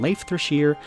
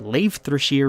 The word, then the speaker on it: Leifthrasir: by the fact that i keep calling it leif thresher because that's what the internet told me is the correct pronunciation and if you're a